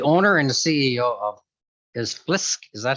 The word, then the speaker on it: Blisk: Currently, he's the owner and the CEO of Blisk. Is that how you pronounce it?